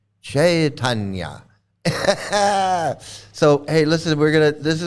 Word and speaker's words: Chaitanya: It's Chaitanya. Yeah, make sure you say it right, okay? Yeah, like it's Chaitanya, okay? It's chai, not chai. We're not drinking chai, although that sounds good. But we're not drinking chai. It's Chaitanya.